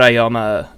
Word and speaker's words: Aoyama: I hate it when words have A-O next to each other, because then you're just like, how do you say that? You say it like ow. And my brain freezes when I try like you to. You got a boo-boo, and you go, ow.